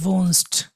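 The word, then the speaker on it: wohnst: এটা ভি, ডব্লিউটাকে আমরা ভি বলবো, ভি ও হা এন, ভুন এস টি, ভুনস্ট, ভুন তারপর একটা এস টি দিব, তাই না, ডু ভুনস্ট হয়ে যাবে।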